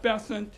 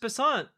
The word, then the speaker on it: Bessent: We need to look at what Scott Bessent and the Treasury...